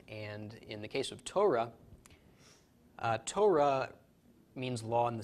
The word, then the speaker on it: Torah: race so tow raw how this is pronounced Torah law or more accurately